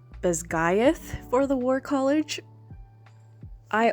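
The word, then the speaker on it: Basgiath: kind of saying Tarn I've been butchering baz GTH in my head that's how I was saying it it's pronounced bth for the war College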